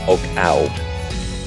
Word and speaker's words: Oggau: which is a leave it's pronounced oak out it's OGG au au so perhaps a German